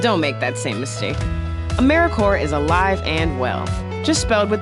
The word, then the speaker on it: AmeriCorps: how to say or spell AmeriCorps sometimes people pronounce the piece but don't make that same mistake AmeriCorps is alive and well just filled with the silent P